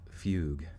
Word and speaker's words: fugue: let's see disassociative fee i think it's fugue this wait diss track associative fugue how do you say it though how you say it google google fugue is pronounced correct okay all right once